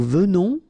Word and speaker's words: venons: Okay, O-N in your nose, on.